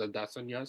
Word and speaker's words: Adesanya: with Adesa and no I know everyone says Anna he himself said it was Adesa so that's the way